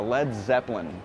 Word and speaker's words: Led Zeppelin: Yeah, a Led Zeppelin. But lead is spelled L-E-A-D, but they changed it to L-E-D because too many people would mispronounce it and call it Led Zeppelin.